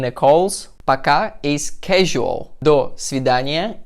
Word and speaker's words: До свидания: До свидания. До с в и д а н и я.